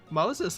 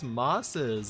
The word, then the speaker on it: mosses: I got that but that's not Moses I'm like that's how you spell it isn't it he said no that's mosses like moss I was like oh I started dying I thought it